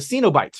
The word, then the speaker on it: Cenobites: And then just this legion of baddies with them, the Cenobites, right? That's what they pronounce it.